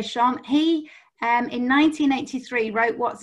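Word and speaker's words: Schön: And Sean, I think you pronounce it Shern. I'm a bit northern, so I still say Sean.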